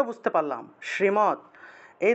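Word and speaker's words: শ্রীমদ্: শ্রীমত উচ্চারণ করতে হবে আমরা তো শ্রীমদ মদ বলে ফেলি অর্থাৎ অর্থাৎ ম দ হসন্ত আছে এটা মদ বলা যাবে না এটার উচ্চারণ হবে মাত শ্রীমত শ্রীমত বুঝতে পেরেছেন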